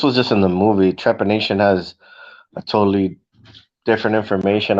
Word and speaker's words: trepanation: Yeah, the thing that I was calling it to pronounce it properly is called trepanation.